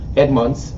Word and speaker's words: Edmonds: have sitting to my right uh mr edmonds edmonds um that's the proper pronunciation um he's the founder and ceo of